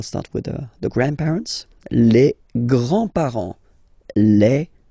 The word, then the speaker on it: grands-parents: And then we'll start with the grandparents, les grands-parents, les grands-parents. Remember, you don't pronounce this final S here, grands-parents, okay?